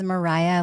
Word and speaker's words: Maraya: My name is Maraya, like Mariah Carey.